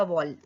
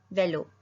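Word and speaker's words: vélo: Mur means a वॉल. A bike. Bike को बोलते हैं वेलो. ई पे एक्सेंट होगा तो उसको बोलेंगे ए. तो व ए लो. वेलो. वेलो.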